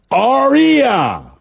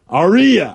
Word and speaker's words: Arya: They're probably already Arya Stark, it's pronounced Arya. Arya.